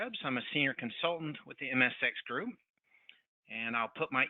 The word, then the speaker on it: MSX: the MSX group the MSX group it rhymes with Erics software where we turn the